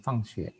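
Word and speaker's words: 放学: Nah ini kamu juga belum tahu kan bacanya fang xue.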